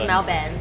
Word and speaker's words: Melbourne: in Australia is actually how you pronounce it pronounce Melbourne oh is it is it yeah okay so